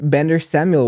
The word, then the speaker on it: Bendor-Samuel: And our guest is Bender Samuel.